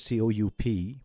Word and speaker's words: coup: And the exception word, C-O-U-P, P is silent, all right?